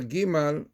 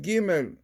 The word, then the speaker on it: Gimel: The first letter Gimal, which is pronounced Gimel, brings to mind the word Gomel.